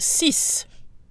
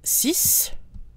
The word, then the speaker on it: six: one for each case on its own six is pronounced cease cease the ex is pronounced and sounds like an S when followed by a